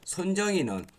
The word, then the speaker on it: 손정희: 이렇게 해서 뭐 AI 컴퓨팅 뭐 이런 칩 같은 것을 만드는 회사이며 손정희는 어떤 사람입니까? 자, 이 손정희 회장에 대해서 한번 또 알아보도록 하겠습니다. 손정희 회장은 한국어 발음입니다. 손정희, 일본어는 소노 마사요시라는 소프트뱅크 그룹의 창업자이자 회장 겸 CEO입니다.